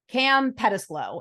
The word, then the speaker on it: Cam Pettislow: least to start, is I'm going to try to say his name correctly, Cam Pettislow. And that's how he said it on Jimmy O's podcast. So I am simply going off of how he said his own name.